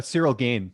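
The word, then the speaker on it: Ciryl Gane: the guy's last name surreal ghana yeah it's uh serial game serial uh game g-a-i-n that's right thank you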